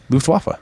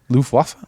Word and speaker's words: Luftwaffe: Luftwaffe. I thought it was with How dare a you? V sound. Luftwaffe. Luftwaffe. Oh! I didn't put enough of it. You got to put a V on the W and a W on the V.